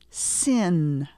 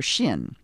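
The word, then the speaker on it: שׁין: left of the letter sometimes people will say Shin sin it's one letter it's the letter Shin but it has the two sounds depending on where that dot is located repeat after me Shin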